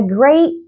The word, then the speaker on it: great: I don't release the air of the T at the end of the word, and if there is a consonant after the word I don't pronounce the T.